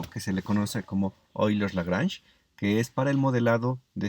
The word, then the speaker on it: Euler: paul euler qué bueno euler se puede pronunciar como oilers de unos años fue